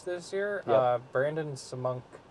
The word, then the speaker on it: Semenuk: Brandon Samunk, right? Is that how you say it? Semenuk.